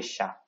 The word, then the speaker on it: chats: Okay, but in French, we don't pronounce the last S. We say des chats.